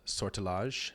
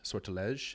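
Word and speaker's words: Sortilège: The album is called Sortilage. Sortles. It's a French pronunciation.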